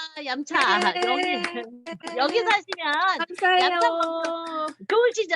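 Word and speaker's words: 飲茶: 자, 얌차라고 해서 왜 얌차라고 부를까? 라고 생각하시면 얌차는 음료수 할 때 마실 그 음자입니다. 음차. 차를 마신다라는 뜻이에요. 차를 마신다. 음차. 근데 광동어 발음으로 음은 얌으로 소리가 납니다.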